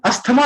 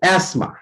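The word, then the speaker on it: asthma: TH की वजह से इसको लोग अस्थमा बोलते हैं, बट इसमें हमें TH को साइलेंट कर लेना है, TH का साउंड नहीं बोलना है। इसको हम ऐसे बोलेंगे, एस्मा, एस्मा।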